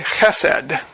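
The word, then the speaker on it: חסד: It's the Hebrew word hesed. You can all say it with me. It sounds like you're choking, because that's the way they pronounced Hebrew.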